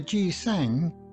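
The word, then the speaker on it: 기생: The ji sang as the Koreans pronounce the name of the geisha as the Japanese call the dancing girls are associated with the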